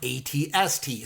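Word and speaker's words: AT-ST: And he responded to me and he said, no, it's AT-AT. But he said that the reason why it gets confused is, the chicken walkers, like the two-legged ones? The ATST? Yeah, that's pronounced ATST. So right. Then people get thrown in, but the other one is AT-AT, 100%.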